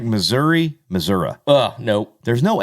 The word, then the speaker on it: Missouri: It's like Missouri. Nope. There's no A. Mm-mm. It's an I. It's Missouri.